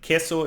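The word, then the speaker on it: queso: cat okay for example quo is cheese it's it's written like uh with those with those two letters it's it sounds like a k no likeing cat yeah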